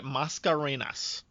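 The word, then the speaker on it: Mascarenhas: i i struggled with that i was hoping you'd you know you'd care it's almost like macarena but you just got an extra yes yes oh that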